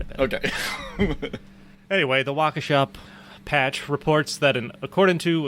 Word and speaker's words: Waukesha: And I'm not even going to try to pronounce the name of this town right. You tell me if it sounds familiar. The Waukesha patch. Yeah. Waukesha.